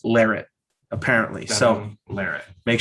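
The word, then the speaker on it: Larratt: But guys, if you've been pronouncing it Larette, it's Larrett, apparently.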